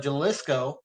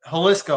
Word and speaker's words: Jalisco: drug cartels, especially in Mexico, like the Sinaloa or the Jaliscoco or Haliscoco, I mean, because it's actually an H, not a J.